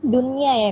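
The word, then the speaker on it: دنيا: Paling sering di Al-Qur'an dunya ya kan Kak? Dunya itu agak banyak tuh kita jumpai. Jadi bukan duya ya bacanya, bukan duya gitu.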